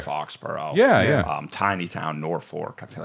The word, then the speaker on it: Norfolk: Tiny town, Norfolk. I feel like Yeah, people don't Norfolk.